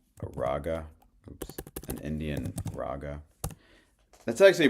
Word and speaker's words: raga: raa oops an Indian raga that's actually pronounced rag they don't even say the a at the end we just say raa But it's actually a rag.